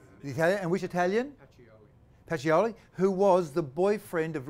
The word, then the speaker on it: Pacioli: How do you pronounce his name? Pacioli.